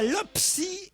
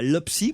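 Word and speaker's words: LOPPSI: La LOPSI va durcir la répression. C'est ce qu'on peut Toi-même lire. C'est ce qu'on peut lire dans la presse ce matin. Mais qu'est-ce qui dérange la LOPSI pour qu'à ce point elle veuille durcir la répression?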